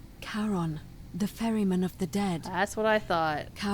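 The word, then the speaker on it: Charon: It's just as you described it, only your pronunciation is a little off. The name you heard wasn't Karen. It was C H A R O N. That's what I thought. Karon, the fairyman of the dead.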